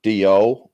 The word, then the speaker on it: Djo: pronounced it was either d.o or joe with just silent d how they say it on the audible's joe yeah joe yeah kind